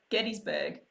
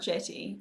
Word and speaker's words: Gettysburg: Welch said it's a hard G. So is that Gettysburg? Rickon, hard G. Getty? I would say Jetty. Gettysburg. Okay. It's not Jetty. It's definitely not.